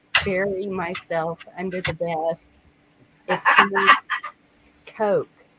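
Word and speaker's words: Koch: myself under the desk Coke right yeah they smell it like but it's pronounced like the drink Coke Vicky you work at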